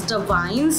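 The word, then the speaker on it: Davines: to pronounce it as Divines. It's pretty easy because this is an Italian brand.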